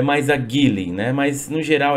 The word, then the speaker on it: Geely: Vamos lembrar que a smart hoje, ela é 50% da Mercedes e 50% da Geely, ou Geely, como eles falam, né?